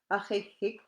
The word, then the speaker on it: ahik: Ahik, because like it's coming from your throat, and it's like you want to make an H sound with this one here as well if you see a capital K.